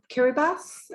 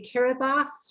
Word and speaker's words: Kiribati: wonder why I say Kiribati rather than Kiribati, I understand from the former president of Kiribati that the typewriter was broken when it came to writing S's. So they put them as TI.